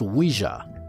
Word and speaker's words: Ouija: Tout d'abord, parlons des planches Ouija. Elles s'écrivent O-U-I-J-A et se prononcent Ouija.